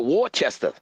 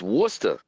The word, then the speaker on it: Worcester: Now I just wanted to say that cuz I called it Warchester but it's not Warchester. It's Worcester.